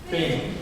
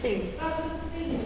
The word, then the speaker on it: Byng: Bing? Bing. Pronunciation of his name.